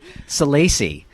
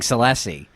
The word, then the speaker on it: Salacy: What is it? Salacy. We've been saying Salesi.